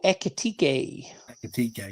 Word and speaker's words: Ekitike: It's a tough justification, which means and then we've been heavily linked with the boy Ekitike, is it? Is that how you pronounce it? Hugo Ekitike.